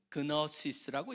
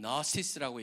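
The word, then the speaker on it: gnosis: 이미 서서히 에베소에는 그 지식이라고 그래서 헬라어는 걸 갖다가 우리 한국식으로 읽어보면 그너시스라고 읽습니다. 근데 지가 묵음이기 때문에 그 영어에서 그냥 너시스라고 읽는데 그게 바로 영지주의라는 겁니다.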